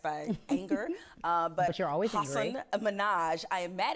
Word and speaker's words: Hasan: They go sometimes Hasan. Yep. But the part, in Southeast Asia where my family's from, it's pronounced Hasan.